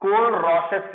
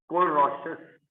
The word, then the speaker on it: Kohlrausch: ठीक है, molar conductivity, and इसको अच्छे से एक्सप्लेन करता है KOHLRAUS, कोल-रॉसेस लॉ। कोहल लिखा हुआ है पर एच साइलेंट है, RAUSCH, कोल-रॉसेस लॉ।